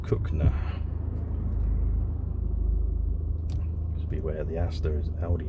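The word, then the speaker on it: Cogenhoe: goes over to cookner spelled kogan hoe but pronounced cook now to beware the Aster's Audi is going yeah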